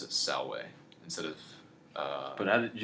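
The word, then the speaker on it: salve: latin sounds is that v's are pronounced as w's okay so like the way you greet someone by saying the word the it's spelled s-a-l-v-e but you'd pronounce it salway instead of uh but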